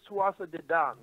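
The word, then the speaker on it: Tuatha Dé Danann: I believe, by the way, it's Tuatha De Dan. Okay. See, I I may be wrong. knew there'd be some kind of weird pronunciation because Gaelic doesn't sound the way it looks, and I had no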